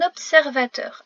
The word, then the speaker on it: observateur: Deux sons sont composés de plusieurs consonnes. BS, BS, RV, RV. Il faut donc bien prononcer ce mot pour être sûr de bien écrire tous les sons.